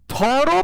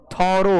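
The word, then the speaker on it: thorough: एक अंग्रेजी के मास्टर बा कोनो, नाम तो ना ले, वो बोलत रहे थोरो पढ़ाते हैं कि थोरो पढ़ाते हैं। थोरो होता है, नॉट थ्रो।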